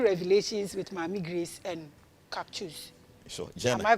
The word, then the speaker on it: Caksus: Because Sanskrit C no obe pronounce it as CH in English. As all kinds of Charles and so Caksus.